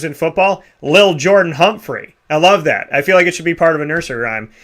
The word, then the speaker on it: Lil: And then Lil Jordan Humphrey. I don't know. Something about what is... Be careful. You got to pronounce that right. It's not little. It's Lil.